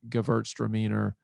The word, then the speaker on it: Gewürztraminer: Gewürztraminer. Yeah, it's a that was terrible. Crazy word. How about Gewürztraminer? Gewürztraminer. Yeah, it's a funky one. German pronunciation, Gewürztraminer.